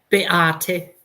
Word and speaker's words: Beate: But Beate, could you tell us how we properly pronounce your name? Beate. Greater. Greater. I thought I said that right.